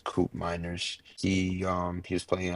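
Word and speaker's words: Koopmeiners: a cers as well CP miners yes C miners sorry that's how pronounce the name yes coup miners he um he was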